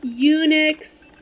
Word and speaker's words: Unix: Is it like Unix? That's Unix with a U sound.